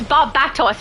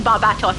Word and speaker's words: Barbatos: at correcting me, um he said, "No, it's Bob Bats." Because he's a bat. And I reread it and went, "Oh my goodness, I didn't even read it properly. It's definitely Barbatos. My bad. So, um, ever since then, I've been saying Barbatos. And it's not just because